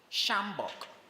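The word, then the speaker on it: sjambok: correct spellings the first shambok this is also an exceptional word because it has a silent letter there which is a silent J in that word so you spell that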